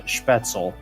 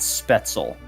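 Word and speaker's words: Spätzle: four americans who who actually pronounces it uh schpetzel and not special or spatzle so uh credentials yeah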